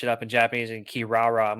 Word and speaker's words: Kirara: The one I remember from as a teenager was Kilala from Inuyasha. Yep. It's Kirara. Yeah, so it's that one always gets me. I'm like, oh yeah, that's right. No, that's not actually how you say it.